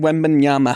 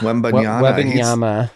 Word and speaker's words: Wembanyama: I don't know how to pronounce his Victor name. Wembanyama. Wembanyama.